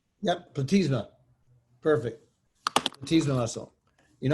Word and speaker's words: platysma: Yep, platysma. Perfect. Platysma muscle. You're not graded on pronunciations.